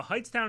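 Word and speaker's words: Hightstown: with heightened masks now heights town is spelled in a very odd turn of events h-i-g-h-t-s t-o-w-n um can you open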